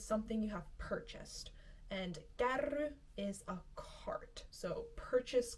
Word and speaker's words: kärry: Kärry. If you can't roll your R's yet, I suggest practicing that since this takes a lot of R rolling. Kärry.